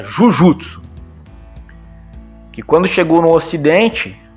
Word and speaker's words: Jujutsu: pronúncia, né, acabou ficando Jiu-Jitsu. Porque J-U-J-U-T-S-U, Jujutsu, pronunciado pelos japoneses, né, soava algo parecido, né? Então, os ocidentais entenderam como, Jiu-Jitsu.